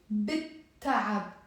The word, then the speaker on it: بالتعب: is the sun letter, I will write bil ta'ab with the fatigue, but we will pronounce it bit ta'ab. Bit ta'ab. The L here won't be pronounced, and because there is